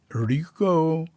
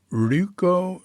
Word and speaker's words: Ryuko: The San Francisco Zen Center, Rico. Rico, you know, when Americans use an R Y word from Japanese, we don't pronounce it like them because we we put